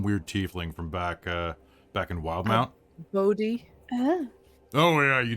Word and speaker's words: Wildemount: I can never know how to pronounce Wildemount or Wildmount. It's Wildmount, Usually right?